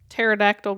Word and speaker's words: pterodactyl: Why can't you hear a pterodactyl going to the bathroom? Hold on. Because something is silent. The P is silent.